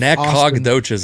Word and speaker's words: Nacogdoches: Nacogdoches is how it's phonetically.